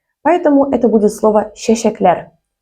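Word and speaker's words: чәчәкләр: Произнести его как чечеклер будет неправильно. А особенность в том, что в татарском языке буква Ч произносится как Щ. Поэтому это будет слово щещеклер – цветы.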